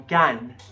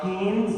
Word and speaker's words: Cannes: half an hour yeah from can can can not canes not guns not cans but can please learn how to say it right for god's sake my